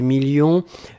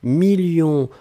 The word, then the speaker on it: millions: s à la fin 2 millions on ne prononce pas le s mais il est là ensuite signature mais ici